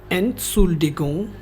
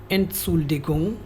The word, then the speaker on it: Entschuldigung: Excuse me, आपको German में translate करना है Entschuldigung। Entschuldigung। Entschuldigung। एंटसुल्डिगुंग, एंटसुल्डिगुंग ऐसे आपको ट्रांसलेट करना है। हर एक वर्ड का उच्चारण जर्मन्स की तरह ही करना आपको, ऐसे